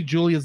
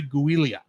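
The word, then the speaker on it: Giulia: Julia for the triathlon every time I see Julia's name because it's spelled g-i-l-u-l-u-i-l-i-a I keep on say guilia um that makes sense but her name is Julie Julia Julia Italian fun anyway Julia invites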